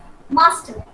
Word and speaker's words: master: pronouncing this r but when a word ends with r we should not pronounce it okay it should be